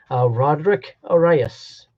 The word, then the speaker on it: Roderick Arias: Roderick Arias. That's how you pronounce it.